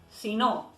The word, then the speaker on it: si no: si no es condicional cuando si no está separado se escucha si no por qué porque si